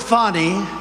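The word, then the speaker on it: Fani: like this is funny he worked with fonnie even though it's spelled Fanny f a n i fny how about that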